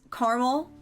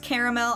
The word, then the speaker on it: caramel: Caramel. I know it's pronounced caramel. I say caramel. I tried to get myself to start saying caramel, and then I just couldn't. So it's caramel.